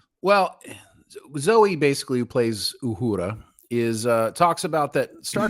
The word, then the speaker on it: Uhura: It just sounds so white when I say it like Uhura. You know that Uhura girl? That's not the way they're going to say it in Africa. It's an African name.